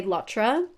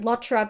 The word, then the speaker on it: LOTR: Yes, technically, the Lord of the Rings abbreviation LOTR is an initialism, not an acronym, and you're supposed to pronounce each letter individually, but I'm going to keep pronouncing it Lotra because I'm lazy.